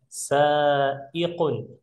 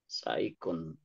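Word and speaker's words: سائق: Sanya panjang. Nah, ini kof, ini hamzah nanti. Nah, ikun. Ikun. Sin, hamzah, kof.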